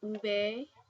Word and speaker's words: uve: Then I have an uve which is the v.